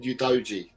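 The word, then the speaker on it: Udogie: No, but then when I said Udoji, I know.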